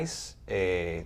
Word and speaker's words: ICE: Es que me soltaron pero el ICE, se pronuncia así, ¿verdad?